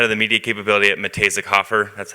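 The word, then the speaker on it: Muh-Tay-Zik Hof-Er: I'm the head of the media capability at Matejzik-Hofer. That's how you pronounce our agency name.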